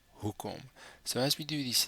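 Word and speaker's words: hoekom: come the second syllable here the emphasis is on the first syllable who comb so as we do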